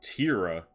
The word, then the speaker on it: Terra: Terra, pronounced Tira. Really? Really? Well, I mean, it could be Terra still, but like, is it Terra or is it Tira?